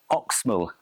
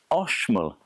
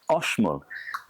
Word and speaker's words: Oxmul: Right now all this time I've been saying this is the oxal coffee farm. That's because it is spelled o x but actually it's oshol. There is no x sound in the Mayan language.